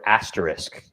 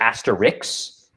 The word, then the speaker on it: asterisk: So the other thing I wanted to say is people often mispronounce the word asterisk, and that bugs me. They'll say asterix, and I'm just thinking, okay, there's no.